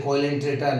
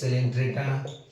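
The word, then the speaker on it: Coelenterata: Some people say coelentrata. No, it is pronounced as cylindrata, right?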